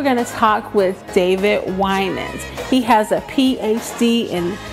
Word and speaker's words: Winans: They'd say, Wininski. I'm like, there's no S-K-I at the end of that. Right. They go, Weiner. There's no R in it. And a lot of Winans, but it's Winans with the I being long.